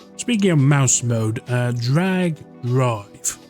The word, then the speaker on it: Drag x Drive: So, uh, yeah, speaking of mouse mode, uh, Drag Drive or Drag X Drive, it's one of those ones where the X is silent or, you know, the weell basketball game.